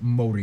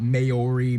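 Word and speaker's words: Māori: Korea and Japan yes by the way it's pronounced Modi not mayori Maori they use the New Zealand dollar as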